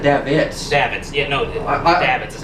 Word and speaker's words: Davids: Yeah, no, Davids is how you it's say just it.